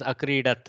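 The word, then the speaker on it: अक्रीडत्: The actual precise pronunciation is akridat.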